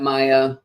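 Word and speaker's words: Maia: Teresa, I'm seeing your congrats on the arrival of Maya. Thank you. I should say that Maya, M-A-I-A, spelled like Maya, the mother of Hermes, rather than M-A-Y-A.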